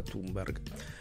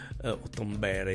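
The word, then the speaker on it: Thunberg: su greta su greta timber timbre e come ho sentito che si dovrebbe pronunciare allora sa che chi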